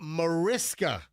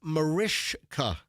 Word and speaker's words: Mariska: So a lot of people say Mariska Hargitay. It's actually pronounced. You should know this. You're such a Law and Order fan. Why should I know this? It's pronounced Mariska. So it's a sh.